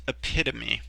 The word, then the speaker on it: epitome: looking word and it's hard to hard to pronounce at first but it's epitome and this is a noun to many the